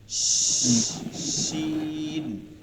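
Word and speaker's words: شين: দেখেন, এটা ওই যে তাফাসি, মধ্যে বাতাস বসবে, শিন। সিন। তিন নুক্তাওয়ালা যেটা, হ্যাঁ, শিন। সিন শিন। সিন শিন। সিন তালে বস্বর উচ্চারণ থেকে, শি।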